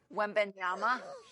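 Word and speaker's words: Wembanyama: Wimyama.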